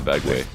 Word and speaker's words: Vega: off the stream where apparently your Wisconsin accent the word vague right sometimes you say vag or what is everybody knows it's V way okay I sometimes sometimes you mispronounce Vega not maybe maybe there's not even a correct way to pronounce it but people from Wisconsin pronounce their vowels weird or they they hold their vowels a lot longer it's usually how